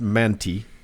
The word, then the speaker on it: Manti: When Uncle Doug and I went to Manti together a few weeks back, and I believe it's pronounced Manti.